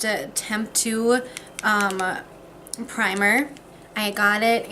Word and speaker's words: Temptu: going to take this I think it's pronounced attempt to UM primer I got